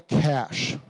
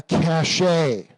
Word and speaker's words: cache: this class is because I'm tired of people mispronouncing this word. It's called a cache, not a cache.